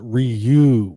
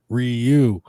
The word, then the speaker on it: Ryu: Uh, my name is pronounced Ryu, my good sir. Ryu. You want to go to war, Rayu?